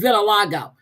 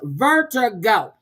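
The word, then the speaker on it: vertigo: Not a jury, a juror called in with Vilago. I typed in her chat. It's Vertiggo.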